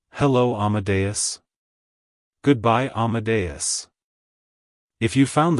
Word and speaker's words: Amadeus: God it's pronounced as Amadeus Amadeus Amadeus to pronounce it correctly emphasize the a sound at the beginning and the bus at the end the stress is on the second syllable like hello Amadeus goodbye amadas if you